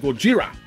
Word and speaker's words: Gojira: It was used to be called, it first was originally called Gojira. That's how they say it in Japan.